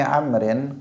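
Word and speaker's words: عمرو: 61 an Abdillah Ibni Amrin qala Abdillah Ibni Amrin kalau ada wawunya bacanya Amr kalau enggak ada wawunya Umar jangan keliru karena ada Abdullah Ibnu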